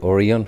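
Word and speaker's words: Orion: গতকাল রাতে ছিলাম এই অরিয়ন হোটেল এখানে অরিয়ন বলে আসলে অরায়ন হবে তো আমি তো যতটুকু জানি অরায়ন প্রোনাউন্সিয়েশন হবে বাট বাংলাদেশে আমরা এটাকে অরিয়ন বলে অরিয়ন হোটেলে ছিলাম এবং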